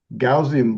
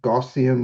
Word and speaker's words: Gaussian: Gaussian blur or gossian blur, depending on how you pronounce it, is the one most useful in this uh set of blur tools.